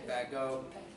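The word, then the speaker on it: Bagot: is the Great Lakes bad Joe I say badger something people say back go to silent T V AGoT all right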